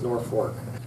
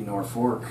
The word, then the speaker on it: Norfolk: things I don't know I think it's North Fork well I'll probably never get answered but it ought to be Norfolk because it's the North Fork of the other you know if